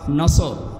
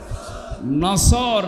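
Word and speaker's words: نصر: নিয়ে আমরা তাফসীরুল কোরআন মাহফিলে প্রবেশ করছি সূরা নসর কোন সূরা বলেন বলেন নসর না নাসর নুন সোয়াদ র নাসরুন শব্দের শাব্দিক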